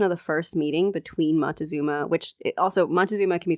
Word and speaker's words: Montezuma: spelled montezuma moctezuma there's a bunch of ways of saying it i've always said montezuma so that's what i'll be saying here feel free to write in and tell me your preferred way of pronouncing his name the first meeting